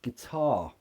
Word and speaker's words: guitar: it's not a schwa yes it finishes in an R sound but it's an R not it's not get er it's guitar yeah the first syllable is the weak form and that has a schwa good guitar well depends